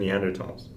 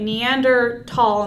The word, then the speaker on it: Neanderthal: we named neanderthalensis right the H was there but it wasn't meant to be pronounced and then the German